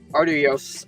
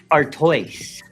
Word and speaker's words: Artois: I mean, Ardios. How do you say that last part? Artois.